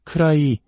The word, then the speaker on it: could I: 쿠드 아이라고 또박또박 발음하면 무척 어색하게 들립니다. 디사운드가 모음과 모음 사이에 오면서 우리말의 리을 받침과 유사한 부드러운 소리로 변합니다. 그래서 크라이 혹은 크라이게처럼 들리게 됩니다.